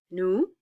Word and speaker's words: nous: Nous, we don't pronounce the S, and vous, we don't pronounce the S.